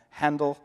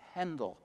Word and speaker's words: Handel: It was always pronounced Handel until Americans got a hold of it. Now it's Handel, but it should be Handel.